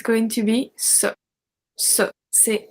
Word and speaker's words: ces: We have C-E-S pronounced c'est.